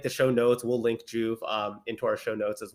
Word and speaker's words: Joovv: So it's like if you say rejuvenate, it's kind of right in there, right? Joovv, rejuvenate.